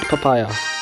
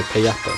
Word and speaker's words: Payapa: Sweet papaya. Oh no, payapa, not papaya.